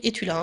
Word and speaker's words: Estula: Sachez ceci, le chien s'appelait Étula. Prononcé donc Étula, hein, il s'appelle Étula le chien.